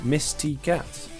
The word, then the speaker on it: Misty Cat: apologize mitch but yeah mitz is not actually called mitch mitz is called misty cat but she spelled it